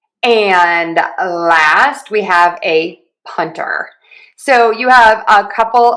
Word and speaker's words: punter: I went from punter to punner. But again, think about syllable stress and stressing syllable number 1. Punter, punter, punter, punter, punter, punter. Either is fine, and I hear both.